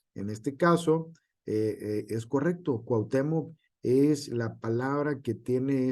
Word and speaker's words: Cuauhtémoc: Porque así es lo correcto, no le decimos Q o Cua, sino Cuau, ¿sale?